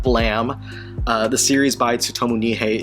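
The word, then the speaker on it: Blame!: example myself anyway moving on we get to blame academy and so on and i'm going to say i know that it's pronounced blam the series by tsutomu nihei is blam uh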